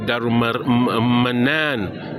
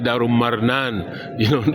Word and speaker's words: Darul Manan: had for those particular, like Darul Manan, they say Darul Marnan, because it's close to a Wolof language that says if you wanna drink, you're gonna have to do it.